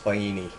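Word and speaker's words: Faini: When I was talking on the phone to people in Italy, it's pronounced Fini.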